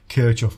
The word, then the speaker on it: Kirchhoff: he said oh yeah kof one of my fellow countrymen so de LEF is German and kof was German so he pretty damn well knows how to pronounce it if you ask me